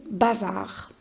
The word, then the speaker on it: bavard: voir un exemple ici on a le mot bavard est ce qu'il ya une lettre muette on va le convertir en féminin pendant qu'on va dire bavarde donc ici on a